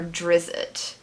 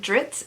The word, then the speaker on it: Drizzt: as to whether this is spell or is pronounced dritz or drizzit and r.a salvatore refuses to answer his response